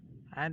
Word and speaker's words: and: And the second thing, another thing is and. Okay, so and is called an. Okay, and D is never pronounced like uh, uh, yeah, bread and butter.